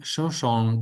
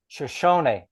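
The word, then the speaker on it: Shoshone: Lewis and Clark expedition aided by the young Shoson guide and translator Sakar Zawia. No um one little minor correction. uh aided by the young Shosony.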